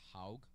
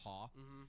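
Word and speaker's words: Haugh: I've heard his pron it's pronounced hog or hog instead of Haw um dropping 20 Off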